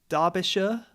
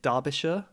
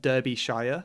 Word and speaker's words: Derbyshire: from where i am derbyshire i believe you pronounce it derbyshire not derby shire but derbyshire um where would